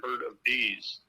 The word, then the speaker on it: Herabes: And if you want to remember how to pronounce my last name, it's not a herd of cattle, but a herd of bees.